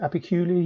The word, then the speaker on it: Apicula: I think it's Apicula, he pronounces it, which is basically the doing all the background work to get NextPNR working well with the GoWin chips.